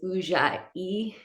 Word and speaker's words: Ujjayi: Today I'm very excited to get into what is called Ujjayi. It is spelled Ujjay. So it's Ujjayi.